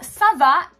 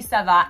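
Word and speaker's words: ça va: simply giving you that the sound C is actually going to be a s sound instead of a C Sound in front of that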